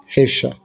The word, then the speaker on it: Yeshua: Puisque Jésus, c'est la latinisation de l'hébreu Yeshua, qu'on prononce en hébreu, Hesha.